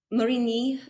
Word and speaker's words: Marigny: So how do you pronounce that? Marigny? Marigny.